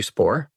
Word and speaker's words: Spaur: You can find me at Matthew Spaur. That's easy enough. It's not that easy. It's spelled S-P-A-U-R. Okay. Short but weird, I tell people. Yeah. But it's just LinkedIn/in/Matthew Spaur.